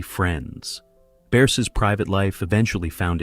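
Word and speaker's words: Bearse: In an April 2026 interview with David Faustino on his Bundy Club website, she casually revealed the correct pronunciation of her last name, Bears, rhyming with curse, a name she has apparently been quietly correcting for four decades.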